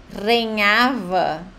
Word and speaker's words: regnava: é crudele que rhava se você não entende a pronúncia né Ia falar regnava vai falar que palavra é essa mas quando sabe a pronúncia certa que aqui é rhava aí até parecido com português né reinava em coit